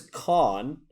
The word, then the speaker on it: Cathan: His name is Con, although it's spelled Cathan because Gaelic has such weird ways of pronouncing things.